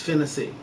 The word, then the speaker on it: Finesse: is named after and his name that spelled the same is finesse pronounced Fennessy be great America be